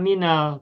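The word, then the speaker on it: مِنَ: Nah, untuk min karena sebelumnya kasroh min, mi-nya kasroh, maka sukun pada huruf nun diubah menjadi fathah minal tuh.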